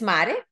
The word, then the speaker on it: MARE: Is it MARE? Is that how I would pronounce it in Spanish? MARE, right? MARE Design. In English, it would be MARE, which is very weird, but like MARE, how